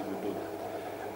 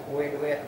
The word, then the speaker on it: Boedoet: Emang bacanya dulu boy duet, belum sempat baca budut, belum ngerti. Sesuai ejaan. Iya, ngertinya dulu begitu, boy duet gitu. Nah, dari situ kita tahu masuk otak deh tuh boy duet ini gitu. Nah, pas SD baru tahu itu namanya budut.